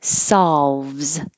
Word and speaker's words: solves: those are fine solves this looks like an o but it sounds like an ah that you have to open your mouth a lot for solves and you do have